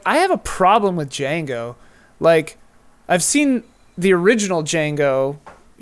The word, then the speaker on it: Django: do with the original Django's, kind of. He's in it, though. Yeah. Oh, he is? Yeah. Yeah, at the bar. Oh, that's right. I knew that. Yeah. The D is silent.